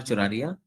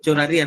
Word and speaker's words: Choraria: Choraria. Is it correct pronunciation? Uh, Yes, yes. Yes, sir. Choraria, na? Right, right. Choraria Okay, is thank right.